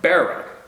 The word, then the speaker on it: Barrow: Pronounced like bow and arrow. Barrow.